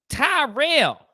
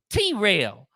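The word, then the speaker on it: Tyrrell: because they'll go with tyrell or t rail you can call on tyrell come on tyrell but they'll go with t-reel tyrell dude are you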